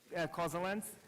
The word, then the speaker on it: causaLens: very much to explain the name it's actually pronounced cause summer winds cause the length and I'll tell you in a little bit